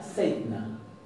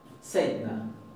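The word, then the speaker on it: seinna: Y se pronuncia seitna, seitna, donde se aplica esta regla, seitna.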